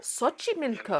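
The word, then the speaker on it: Xochimilco: hocky milco we are looking at how to pronounce the name of the cityi milco SOI milco it's not milco so they're found in the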